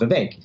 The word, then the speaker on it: Vivek: just would know instinctively that the name is pronounced Vivek.